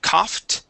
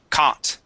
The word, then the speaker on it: caught: Instead of cough, it is caught. C. C. Cout. Okay. Instead of cow and adding in a u, we only pronounce the a sound.